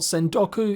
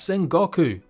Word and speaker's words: Sengoku: A game I've been mispronouncing for ages, it's not Sendoku, it's Sengoku.